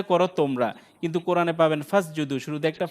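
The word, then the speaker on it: فَاسْجُدُوا: এখন এই শব্দটা যদি এই শব্দটার আগে যদি অন্য কোনো শব্দ থাকে, এই শব্দটাকে এইটাকে যদি ধরতে যাই, তাহলে ওই যে আলিফটা উচ্চারণ হবে না।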